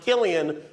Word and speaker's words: Cillian: Cillian is... Interesting fact about his name, it's pronounced Killian when he does drama. When he does comedy, it's Cillian.